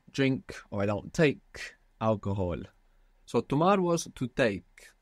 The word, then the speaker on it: alcohol: and I don't take alcohol I don't drink alcohol and I don't drink alcohol Al good cuz we don't pronounce h in Spanish do we no or if you